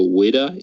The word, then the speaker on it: Whydah: But poking more at historical ships, there's one from, I think it's Davy Jones' Curse, called the Whydah. It's spelled WHYDAH.